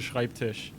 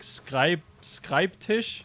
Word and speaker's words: Schreibtisch: could pronounce the word schreibtisch yeah exactly was really tough for like everybody yeah nobody like everyone nobody could say the the sch at the start everyone was like skype skype tish or something and nobody